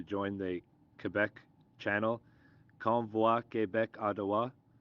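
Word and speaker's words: Québec: the quebec channel convoy quebec ottawa i'm pronouncing that in french specifically because it's per it's spelt that way it's an i not a y com i quebec and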